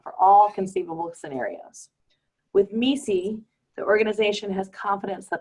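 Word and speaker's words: MECE: with the acronym om ECE which is actually pronounced me see and it stands for mutually exclusive collectively exhaustive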